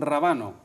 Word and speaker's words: Rabano: por aquí también a San Rabano, sin acento en la primera, que si no nos importaría muy poco, ¿no?